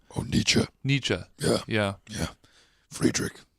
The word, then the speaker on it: Nietzsche: I never actually knew how to pronounce his name. Oh, Nietzsche.